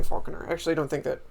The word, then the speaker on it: Falconer: I like to say Falconer I actually don't think that almost anybody thinks that it's supposed to be pronounced FAL Falconer especially because you don't say Falcon unless you're talking about Star Wars um but that that's